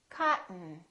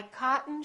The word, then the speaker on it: cotton: curtain one more word don't say cotton say cotton cotton okay let's try some sentences now I am certain that's the tallest mountain I'm certain that's the tallest mountain my cotton shirt has buttons my